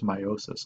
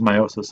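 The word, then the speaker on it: miosis: confused with this meiosis even though it's it's pronounced the same way the spelling is different so this is meiosis in the eye and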